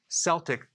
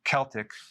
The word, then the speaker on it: Celtic: recommend consuming sea salt unless it's celtic sea salt or it could be pronounced celtic this is okay this